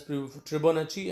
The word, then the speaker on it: Tribonacci: video of fibonacci series yes you pronounce that as tribonachi and fibonacci series so